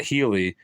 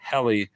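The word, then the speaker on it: Hely: name the wrong way not Healey as was correct but humiliatingly hel to rhyme with Nelly worse they'd forcibly cut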